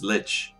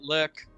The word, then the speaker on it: lich: pronunciation yeah it's it's it's uh it's litch i've heard it lich i've heard it lick it it's literally right now it's lit from the german but no it's up